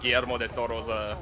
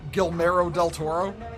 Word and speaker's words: Guillermo del Toro: I'm still crashing out over y'all mispronouncing Guillermo del Toro's You name. mean Guillermo del Toro? Guillermo del Toro?